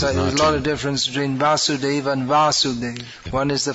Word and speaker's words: Vasudeva: Just like there's a lot of difference between Vasudeva and Vasudev.